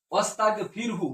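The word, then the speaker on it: وَاسْتَغْفِرْهُ: তাহলে এখানে ও আসার কারণে এই আলিফটা উচ্চারণ হচ্ছে না। তাহলে ওস্তাগফির তুমি ক্ষমা চাও। এরপরের শব্দটি হচ্ছে হু। এরপরের শব্দটি হচ্ছে হু। ওস্তাগফিরহু।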